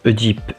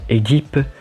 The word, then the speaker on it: Œdipe: Je prononce Œdipe et non Édipe, comme je dis Polybe et Mérope, et pas Polybe et Méropée.